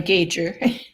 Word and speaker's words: Gauger: okay my name is Gauger rhymes with major and um I'm a